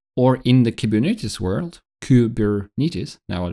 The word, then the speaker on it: Kubernetes: Or in the Kubernetes world, Kubernetes, now I pronounced correctly, you have a control plane, which